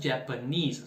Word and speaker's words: Japanese: nosso japanese o japonês japanese sílaba tônica é a última japanese in e eu